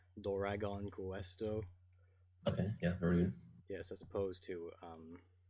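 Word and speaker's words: ドラゴンクエスト: in transliterated english so in japanese you pronounce it like doragon questo yes as opposed to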